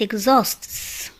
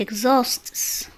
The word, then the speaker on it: exhausts: حرف الإتش إذا جاء قبله EX فإنه لا ينطق، مثل it exhausts it exhausts، exbite exbite.